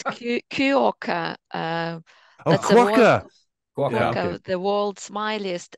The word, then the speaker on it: quokka: Yeah, it's I don't know how to pronounce it. It's Cuoca.